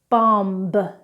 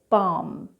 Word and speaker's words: bomb: Now, when we have M and B together in a word, we do not pronounce the B.